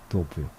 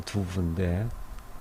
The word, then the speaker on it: Douve: 도부요. 불사조를 선하는 너를. 나는 이 추위 속에서 너를 지켜보고 있다. 지금 이 도부 이렇게 왔다 갔다 하면서 썼는데 프랑스 발음으로는 두부인데 흔히 도부로 많이 번역해서 부르기도 하죠.